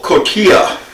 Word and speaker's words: cotija: I'm going to take a little cotija. I believe that's how it's pronounced, C-O-T-I-J-A.